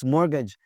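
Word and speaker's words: mortgage: मॉर्गेज, किस्तों पे कुछ चीज लेते हैं बाहर के मुल्कों में, तो वहां पे मॉर्गेज का लफ्ज होता है, टी की आवाज नहीं आती जी, मॉर्गेज।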